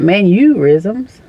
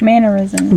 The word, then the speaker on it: mannerisms: mannerisms yeah it's your manners like m a n n e r not manorisms I say manorisms you heard me say that mannerism but I know when I